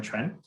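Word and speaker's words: 船: Similarly, Jonah pointed out how the Chinese character quan, pronounced in Mandarin quan, which means ship, is composed of the characters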